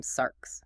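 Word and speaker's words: σάρξ: The logos became sarks, pronounced sarks. Sarks doesn't just mean a body, it means physical bleeding sweating mortal meat.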